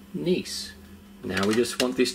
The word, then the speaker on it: Nice: I'm using nice and no it's not pronounced nice it's a brand pronounced nice now we just want